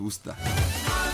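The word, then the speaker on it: Worcester: I wonder why W E S D E R is pronounced Worster.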